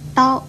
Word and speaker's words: 叨: 叨这个字又念叨，国语注音是的凹叨，一声叨。